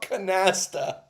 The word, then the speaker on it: Canasta: I think you're probably talking about Canasta. Oh, can you read it? Can you read Can you spell it?